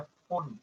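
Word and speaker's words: Pfund: Bracket and last है फुंड, फुंड में P silent है।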